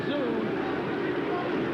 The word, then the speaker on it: Tszyu: Proud chant of Tszyu with his transplanted hometown favorite. Don't be confused by the spelling, the T-S-Z-Y-U. It is pronounced just like Z-O-O. This is local zoo, Tszyu.